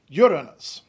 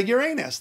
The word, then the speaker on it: Uranus: enough about that stuff so it became Uranus that is the classically motivated pronunciation Uranus so why do we say Uranus then just because we like Uranus it's because you look at it and it looks like it should be said Uranus just the same way